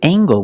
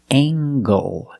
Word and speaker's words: angle: and this word angle with angle we pronounce the hard sound angle angle he's a long a a angle this is a